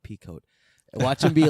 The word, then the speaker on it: Pico: Aaron Pico, their guy. Yeah. When MVP goes on, and now how do you say Pico? Pico. When Pico goes on, like Waco.